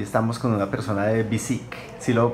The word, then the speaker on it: Biciq: Hola amigos de TechCetera, hoy estamos con una persona de BISIC. ¿Sí ¿Sí lo pronuncié bien? Sí, BISIC, así Ok, es.